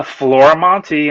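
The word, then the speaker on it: Florimonte: go on to the Googles and type uh Flora Monty I'm pretty much the only one doing comics and you spell it as you can see on there f-l-o-r-i-m-o-n-t-e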